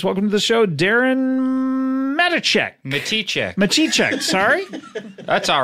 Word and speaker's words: Matichek: but uh please welcome to the show Darren Medici check sorry that's all right I'm a t check you you uh pronounced it the way it's spelled I did